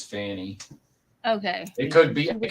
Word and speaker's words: Fani: it's fonnie it it's I'm pretty sure it's Fanny I mostly hear her name pronounced as Fanny okay it could be